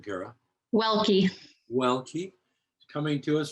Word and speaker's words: Welke: how do you say your last name kara welke well keep coming to us from grand forks